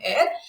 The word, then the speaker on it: Eyre: written by सबसे पहले Jain एयर pronunciation है एल ए आई आर वाला जो एयर होता है उसी की तरह इसको प्रोनाउंस किया जाता है जिसमें कई बार